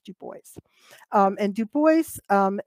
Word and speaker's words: Du Bois: looking back at the data visualizations of web dubois and that is actually how it's pronounced du bois um and du bois um it was is